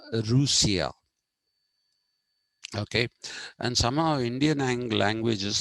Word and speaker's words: Russia: Incidentally, even the pronunciation Russia is wrong. It is Rusia.